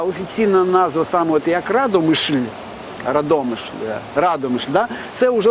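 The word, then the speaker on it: Radomyśl: містечка саме з назвою Радомишль е згідно з нормами польської мови наголос завжди робиться на передостанньому складі а с е настільки м'яке що воно інколи передходить в ш і ця стара форма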